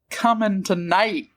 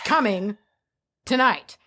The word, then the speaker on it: Cummingtonite: I would like to hear about coming tonight.